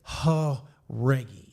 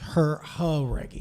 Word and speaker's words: Jauregui: Dad came up to me and said, if you can say Haregi. So it's like Haregi.